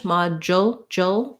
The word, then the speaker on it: module: long ma and then in american english module this d u we do a j sound and then we have our dark l at the end with a little bit